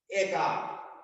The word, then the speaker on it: একা: কিন্তু যদি হয় একা তখন হয়ে যাবে একা। এই যে এ বলতে এ হয়ে গেল, কেন হলো?